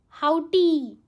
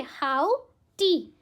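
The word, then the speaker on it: haughty: पहले ट्राई करो आप कैसे प्रोनाउंस करेंगे। हाउ टी। Okay. हाउ टी। एच ए यू जी एच टी Y word है। बट ऐसे याद करना।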